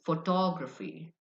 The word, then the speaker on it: photography: Then is photography. Photography. The stress is on the second syllable.